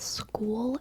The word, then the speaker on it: school: sh sleepy what about school and skull I also are pronounced in the same school rhymes with fool rhymes with spool rhymes with Rule and skull rhymes with